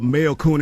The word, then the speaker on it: Mayorkun: Because it only makes sense that it's Mayorkun because that's the mayor.